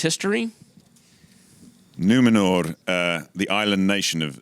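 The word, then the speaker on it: Númenor: the island kingdom of numenor well pronounced r on the end numenor numenor i don't want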